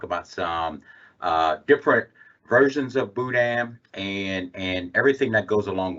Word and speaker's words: Boudin: so it's actually spelled Boudin, and it would be Boo and then Dan, but without the N pronounced at the end.